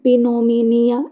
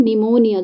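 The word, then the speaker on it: pneumonia: क्या पढ़ेंगे निमोनिया तो इसमें जो पी का जो साउंड है वो क्या आ रहा है क्या हम बोल रहे हैं कि प पिनोम निया ऐसा तो नहीं बोल रहे हैं ना हम क्या बोल रहे हैं निमोनिया जो हमको बीमारी होती है क्या है निमोनिया तो इसमें पी जो है वो क्या है साइलेंट वर्ड है तो ए ऑप्शन हमारा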